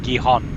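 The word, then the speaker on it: Gijón: Yeah, they Gijon. pronounce it as an H.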